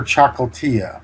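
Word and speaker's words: Ciocâltea: This is a nice combination from the late Romanian GM Victor Chocoltia. That's how it's pronounced, I understand.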